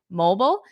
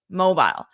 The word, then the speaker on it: mobile: One is American, mobile, and the other one is British, mobile.